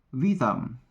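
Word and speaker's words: witam: Hello sa polish ay vitam vitam okay baka maconfuse kayo Bakit w yan ganito kasi yan ang pronunciation nila ng w dito is V polish language ng goodbye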